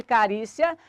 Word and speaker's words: carícia: Sílaba tônica de carícia é uri. Nós estamos falando de uma paroxítona acentuada por terminar em ditongo crescente IA.